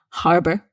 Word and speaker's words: harbor: is Harbor again here there's no um argument about this you must pronounce the h Harbor and harbor means port